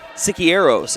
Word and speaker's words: Siqueiros: That's Aiden Siqueiros is how you pronounce his last name.